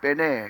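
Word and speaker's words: בני: 빠지고 무슨 단어가 등장했습니까 자손 베네 또 히브리 발음을 하면 빼내 이럴 텐데 이스라엘이냐 벤에 이스라엘이냐이 차이가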